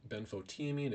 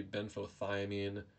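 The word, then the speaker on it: benfotiamine: it is called Ben Beno teamine it should be Beno thiamine I believe it was mispronounced or misspelled because in Japanese thomine is chamine but basically Beno teamine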